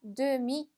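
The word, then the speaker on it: demie: 자, 여성 명사일 때는 뒤에 의가 붙어서 demi, 그죠? 발음은 똑같지만 의가 붙었다, 떨어졌다 한다라는 걸 기억해 주시면 되겠습니다.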